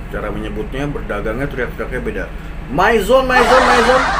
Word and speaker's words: Mizone: menyebutnya berdagangnya teriaknya beda Mizone bom Mizone Mizone Mizone mungkin begitu ya Jadi bukan mijon mijon mijon mijon mijon jangan gitu lagi Oke kita tinggalin yang